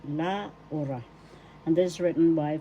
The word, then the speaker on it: Laura: at la at means and conjunction and a and d and pronunciation is la first syllable la second syllable u third syllable ra the accent is in the second syllable la ora and this is written